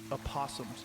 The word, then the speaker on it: opossum: Opossums.